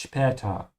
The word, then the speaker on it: später: Make sure to pronounce the S here like a sh because it comes before a P.